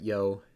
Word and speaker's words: Yough: I used to call it Yough, but I noticed that it survived for long enough to lose the final consonant in some dialects, apparently. So it's easier to pronounce it Yough, so I'm going to pronounce it Yough going forward.